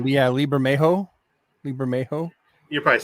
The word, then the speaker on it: Bermejo: Yeah, Lee Bermejo, right? Yeah, Lee Bermejo. You're probably saying it right. I think the J is an H.